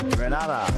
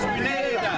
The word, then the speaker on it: Grenada: So today, like we Germans say, we are in Grenada. But I heard in English it's called Grenada. Say it right. Grenada. Say it right. St. Orford. That's right. Grenada. There we go. Say it right. It's Grenada.